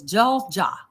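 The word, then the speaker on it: 잘 자: And he says, Jol Ja, my stores, good night.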